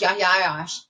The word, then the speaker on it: Yahya Ayyash: His name was Yahya Ayyash. There's several different spellings of that, so you may see it one way or the other, but it's pronounced Yahya Ayyash.